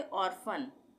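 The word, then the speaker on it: orphan: उसी तरह से ऑर्फन, ऑर्फन में भी पी एच एक साथ आ रहा है तो यहाँ पे फ का उच्चारण होगा, ऑर्फन।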